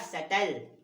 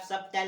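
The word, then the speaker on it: subtle: और ये आपका सटल, तो यहाँ पे आप सबटल नहीं बोलना, सटल। क्या पढ़ोगे, सटल।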